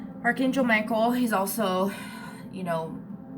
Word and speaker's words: Michael: the party archangel michael he's also you know a lot of people pronounce it mikhail and that's just old pronunciation saint michaels saint mikhail